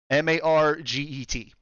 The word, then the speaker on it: Margaret: Basically, it's spelled like Margaret without the R, Okay. without the second R. It is Ooh. Margaret. Marget.